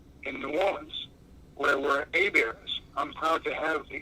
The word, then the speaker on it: Hebert: people come from, and where the river's name today is pronounced Hebert, the River Hebert. On my grounds, the Monadnock region of New Hampshire, I'm a Hebert, as in Ernie Hebert.